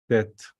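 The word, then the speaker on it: טית: You have to, it's the same almost pronunciation like the tau, but it's different alphabet. Tet. It's more, you put the gesh strong on the t. You put your tongue at the top of your mouth, touching your tooth.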